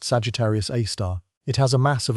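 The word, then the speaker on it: Sagittarius A*: The supermassive black hole at the heart of our galaxy is called Sagittarius A, pronounced Sagittarius A star.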